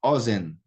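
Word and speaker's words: אֹזֶן: Então, ozen é segolado, Keren é segolado, regel é segolado, ou seja, a primeira sílaba aqui é a tônica.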